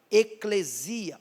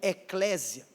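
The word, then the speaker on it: ekklesia: foi traduzida como igreja, era uma expressão grega chamada eclesia ou eclésia. Pessoas pronunciam dessas duas maneiras.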